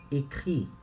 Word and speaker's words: écrit: Écrit, tá? E essa letra T é muda.